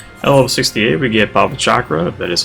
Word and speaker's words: Bhavacakra: At level 68, we get Bhavacakra, that is how you pronounce that.